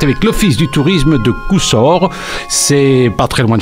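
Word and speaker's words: Cousolre: Montigny-le-Tilleul est jumelé avec le petit village de l'Avesnois Coussor, à ne pas prononcer Coulsor, un petit village sympa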